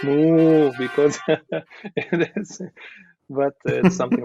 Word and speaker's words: Mo: say it like moo Mo yeah moo is my short name in Serbia so they always like call me moo moo moo moo and not moo like a cow like moo because but something like this but yeah uh